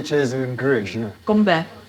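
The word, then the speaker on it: 건배: Gombe. Gombe.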